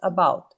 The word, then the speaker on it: about: About, ficaram duas sílabas. About. Esse T desaparece.